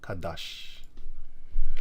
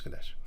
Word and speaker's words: Kadesh: spelled different I think it was spelled kadash Kad Kash no it's Kadesh Kadesh and um naftali